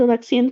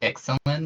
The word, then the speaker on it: Ixalan: You're going to Alexian too. Yeah. I think it's pronounced Ixalan though.